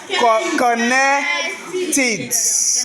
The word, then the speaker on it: connected: connected connected donc on emploie on ne prononce pas le e là de façon hasadeuse hein lorsque le verbe lui-même se termine par le son t comme dans connect ou bien il y